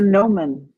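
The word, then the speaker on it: gnomon: It's the gnomomen. It's spelled with a G.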